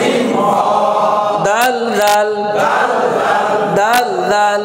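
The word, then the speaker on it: ر: কেমন হ্যাঁ তাহলে এখন দেখেন দুইটা দেখতে একই রকম না জি এই হরফটার নাম হচ্ছে র র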